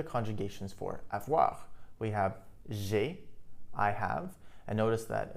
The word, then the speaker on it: j'ai: This is because it's easier for us to pronounce. It would be a lot more difficult to say je ai rather than just j'ai. If we say j'ai, there's a bit more of a melody to it.